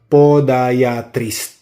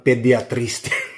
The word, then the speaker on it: podiatrist: That's the right pronunciation. Podiatrist. 'Yun ganun pala. Ako naman pediatrist.